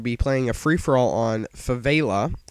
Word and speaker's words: Favela: Hey guys, Xdraws here, and I'm going to be playing a free-for-all on Favela. I found out that that is actually the correct pronunciation, not Favela, as I was calling it before.